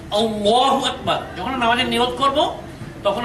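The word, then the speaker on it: الله أكبر: হবে লক্ষ্য করুন বোর্ডে এখানে লেখা আছে আল্লাহু আকবার কিন্তু আমাদের দেশের অনেক মানুষ উচ্চারণ করে আল্লাহু আকবার কিন্তু উচ্চারণটি সঠিক নয় উচ্চারণটা হচ্ছে আল্লাহু আকবার যখন নামাজের নিয়ত করব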